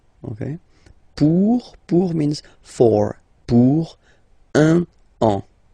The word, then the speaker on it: un an: Okay, so you can hear that now I make this link between the two.